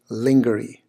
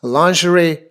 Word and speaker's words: lingerie: to mispronounce this word is literally to say linger II linger II write and that would just be embarrassing to you as well as to the person curing you say it that way so I can assure you you're not gonna get too far if you say linger II it's lingerie lingerie right and there are